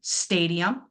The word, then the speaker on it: stadium: Right away, I can hear that I'm actually pronouncing my a sound and I'm making that very long and it's a little bit louder.